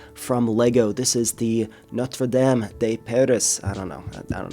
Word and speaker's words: Notre-Dame: big architecture set from Lego this is the notam de peris I don't know I don't know what's with the accent there it's Notre Dame uh that's how I know how to say